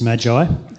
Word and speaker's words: Magi: or the three wise men or uh the Magi um so I had to ask check with Brian earlier this week how you pronounce Magi um but apparently it's Magi um according to Brian anyway um but personally